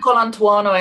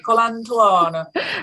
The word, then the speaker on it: Colantuono: I say Colantuono, and Susan, if you're listening, which she does, so apologies. Let's talk later. I say it in a very kind of Italian, Colantuono. Colantuono.